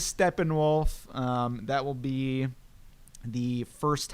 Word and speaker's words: Steppenwolf: how you'd pronounce that it's German so it is Steppenwolf that will be the